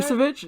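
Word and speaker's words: Vučević: Vucevic? Yeah, that's how you pronounce it, right?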